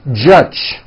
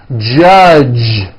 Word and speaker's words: judge: the word judge as judge turning that last sound into an unvoiced CH judge and that is not right the J sound in American English is always voiced judge like that for you